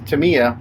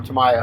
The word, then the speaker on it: Tamiya: if you're unfamiliar paints Tamiya which is a very popular name or Tamiya however you want to pronounce it here's a hybrid acrylic